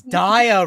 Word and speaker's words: Dia: Oh, it's Dia Rabbit. I mean, in Japanese it's like a Rabbit, diamond. but I in thought it English meant it's Die Rabbit. Dia as in diorama and rabbit.